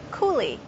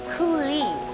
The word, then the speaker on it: coulis: stock or sauce in a refreshing recipe called coulis.